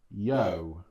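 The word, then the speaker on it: Yeoh: Michelle Michelle Yo. Yo. Yeah. I I mean Oh, like yippity. Yippity yo. Yeah. Yeah. And well, it's it's spelled Y E O H.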